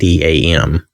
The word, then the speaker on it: Adam: Now that could be that it's pronounced Adam, but it's Adam.